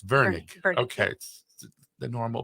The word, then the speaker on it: Virnig: her name is Bianca veg right did I pronounce that right Vern Vern yep not ver it's Vernick okay the normal pronunciation silly me um she